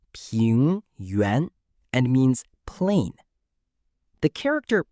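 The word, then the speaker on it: 平原: Next is ping yuan. Ping yuan is pronounced ping yuan and means plain.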